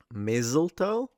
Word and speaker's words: mistletoe: I pronounce this word with an unvoiced s sound, mistletoe. Yeah. But some people use a voiced Mizzeltoe?